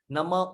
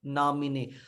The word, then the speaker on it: नमः: कुछ बोलते हैं नमो, नमो ओम विष्णु, नमो नहीं है, नमः। नमः भी नहीं है, नमः है। देख रहे हैं? नमः ओम विष्णुपादाय कृष्ण पृष्ठाय भूतले श्रीमते भक्ति वेदांत स्वामिन इति नामिने।